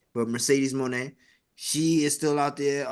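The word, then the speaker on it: Mercedes Moné: shots here and there because you know uh Mercedes Monae I was going to make sure I said it right not the other name the WWE name but Mercedes Monae she is still out there um speculations is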